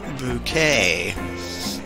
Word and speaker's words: Bucket: A uppity woman marries a guy named Bucket, and she decides to pronounce the name Bouquet.